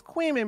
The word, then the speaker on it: Kuihman: You're saying his name is Kuihman because QU is like quick. KUI is pronounced kind of a similar way to QUI.